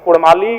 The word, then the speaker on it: कुड़माली: मांग करता हूं कि र के स्थान पे अड़ किया जाए क्योंकि कुड़माली साहित्य की बात करें तो अड़ का महत्त्वपूर्ण स्थान है जैसे काड़ा माड़ भेड़ा पीड़ा डाा गौड़ मोड़ ये उच्चारण केवल कुड़माली साहित्य में ही संभव है अभी अगर इसका आप